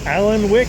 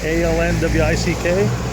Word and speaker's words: Alnwick: Okay, today at Alnwick Castle, I would have called it, with my bad pronunciation, Alnwick, A-L-N-W-I-C-K. At least everyone here with accents call it Alnwick, so I guess I'll go with that.